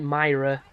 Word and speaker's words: Moira: the war Beetle that Moira as I call her after the the wife of Atlas in BioShock because her name is pronounced like like Myra m y r r